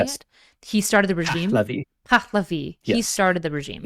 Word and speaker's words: Pahlavi: Reza Shah started the whole Pavlani. Is that how you say it? He started the regime. Pahlavi.